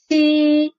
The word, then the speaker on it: Xi: And Xi is pretty different from those two, because Xi, when you pronounce Xi, your tongue does not touch your mouth roof, does not touch your